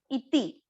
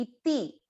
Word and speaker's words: इति: पहले चरण, "इति" में लघु स्वर ध्वनि है। यहां यह "ti" है। इति .